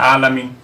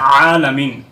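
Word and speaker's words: العالمين: ভুল তাহলে এখানে অবশ্যই আইনটাকে সঠিক ভাবে উচ্চারণ করতে হবে হামজা হচ্ছে উচ্চারণ করা যাবে না আলামিন উচ্চারণ করা যাবে না এখন উচ্চারণ করতে হবে আলামিন তৃতীয় যে জায়গার মধ্যে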